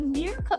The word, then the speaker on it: Mirko: No, it's like Mirko. It's M-I-R-K-O. So like Mirko? Okay, we go with Mirko. All right, and then we have the lovely brown baddie of the hour, our girl Mirko.